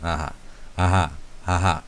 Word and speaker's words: Aja: Aha, not Aja, Aha, right? There's no J, Aha.